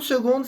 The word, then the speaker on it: seconde: Une seconda, lembrando que seconda palavra se escreve com C apar de som de G. Se une seconde s'il te plaît.